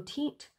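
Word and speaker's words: Teint: It's T-E-I-N-T, so Tint.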